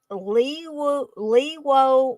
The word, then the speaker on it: Leawo: It's a Lewo Blu-ray player.